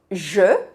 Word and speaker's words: je: E na na palavra je, eu, tem esse som. E. O som E é um pouco parecido com o som U em francês.